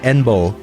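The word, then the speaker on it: 遠望: horizon, written as this, pronounced enbo. En means far or distant, and the bo means to view or to gaze.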